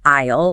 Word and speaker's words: isle: Isle like island. Silent S.